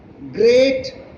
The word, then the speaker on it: great: They rhyme with, see, meat rhymes with sheet, whereas great rhymes with straight, and threat rhymes with debt.